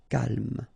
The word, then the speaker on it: calme: So don't insist on the final E. Calme.